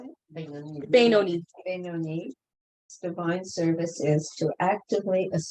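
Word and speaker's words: Beinoni: Benoni.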